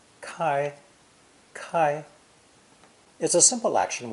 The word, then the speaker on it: 開: from across a door this idiogram is pronounced first tone kai kai is a simple